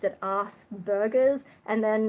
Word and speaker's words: Asperger's: I think there's like there's a few different ways people pronounce it I think just from our background we've always heard Asperger's which I know in an American accent probably sounds more like ass burgers or something um in